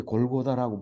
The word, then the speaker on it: 골고다: 놀라운 말입니다 33절 읽어봅니다이 골고다는 히브리어를 아람으로 이렇게 골고다라고 발음을 하여서 쓴 겁니다 그렇게 써서 우리에게 전달이